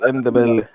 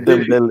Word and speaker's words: Ndebele: You don't even know how to pronounce it, bro. It's Ndebele. Yeah. It's not Dembele.